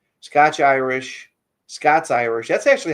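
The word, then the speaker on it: Scots-Irish: So yeah, we had a good um this guy says, ScotchIrish. ScotchIrish. ScotsIrish. That's actually how it's pronounced.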